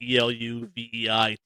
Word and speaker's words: Eluveitie: One of my favorite bands, Eluveitie, Eluveitie. That's actually how you pronounce it.